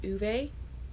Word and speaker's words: Ove: Basically, it's about this old man called Ove. Actually, I believe he's from Sweden or Switzerland. I can never remember. I always get those mixed up. And his name is pronounced Uwe in the native language.